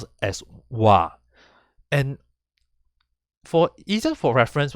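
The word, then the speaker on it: は: the heart will open will be changing to pronounce as instead of ha and this is the only time when it is pronounced as wah so when it being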